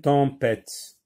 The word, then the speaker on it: tempête: Une tempête, tempête, 3 syllabes. La première c'est T avec on, ça se lit temps. P avec E, ça se lit P. T avec E, T. E ici c'est une lettre muette, une tempête.